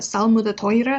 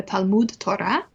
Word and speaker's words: Talmud Torah: study of Torah, and you'll hear him doing the Eastern European Ashkenazi pronunciation, the Salmud Torah instead of the Talmud Torah.